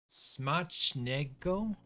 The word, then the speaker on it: Smacznego: Smacznego. So C and Z together make like a CH sound, right?